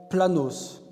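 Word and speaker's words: πλάνος: En grec, ce mot se prononce planos et qui signifie littéralement errant.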